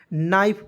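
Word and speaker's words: knife: ध्यान से देखेंगे देखिएगा कि को इसमें साइलेंट जब हम लोग करते हैं तो एन आई एफ क क क्या पढ़ेंगे दोस्तों नाइफ पढ़ेंगे ठीक है एन आई एफ ई को हम लोग क्या पढ़ेंगे दोस्तों नाइफ क्योंकि उसमें के साइलेंट करेंगे ठीक है और नाइफ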